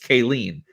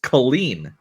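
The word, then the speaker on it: Caleen: because the whole time I thought her bix's name was pronounced Bix kaleen but it's Colleen now which I've been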